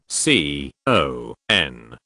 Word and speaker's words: Conn: s Y n d r o m e c.o n n syndrome' con